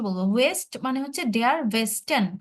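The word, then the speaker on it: Westen: তো হুম অবশ্যই বলবো ওয়েস্ট মানে হচ্ছে ডেয়ার ভেস্টেন কি বলবো ভাইয়া আমার সাথে বলেন তো আপনি যে প্রশ্ন করেছেন ডেয়ার ওয়েস্টার্ন ভেস্টেন বলেন তো আবার আমার সাথে বলেন ভেস্টেন ভেস্টেন ভেস্টেন ভ এর মত করে একটা ধাক্কা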